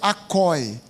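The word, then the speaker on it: ἀκοή: for consultar o original grego no Grego é acoi acoi se escreve com k a k o e acoi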